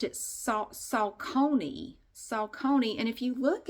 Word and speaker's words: Saucony: Okay, so there's this woman that I see in some of my classes, and she always pronounced it Saucony.